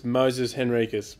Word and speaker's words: Moises Henriques: that up for us I think I'm pretty sure it's Moises Henriques but I've heard of so many variations now that I'm fairly confused as well we'll probably keep being pronounced the wrong way anyway but the guy